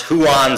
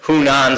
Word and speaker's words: Hunan: the way he would always mispronounce huan spring instead of hunan spring the way he would